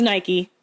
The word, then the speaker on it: Nike: is disappear now like Europeans called them like Nikes yeah it was um it was Nike that's the correct way to say it's called Nike it was his music